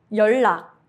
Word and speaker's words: 연락: When 니은 받침 meets 리을 or 리을 받침 meets 니은, both become a clear 리을 sound. Examples: 설날, New Year's Day. 연락, contact.